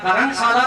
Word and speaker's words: करणशाला: इसका जो एक उचित उच्चारण था, सही उच्चारण करणशाला था और सभी इसको करणशाला के नाम से ही जानते थे।